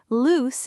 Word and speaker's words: loose: And loose rhymes with goose, moose, juice, spruce. They all have that loose sound.